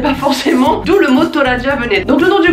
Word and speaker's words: トラジャ: Donc à la japonaise ça fait Tora et Ja. D'où la prononciation Toraja.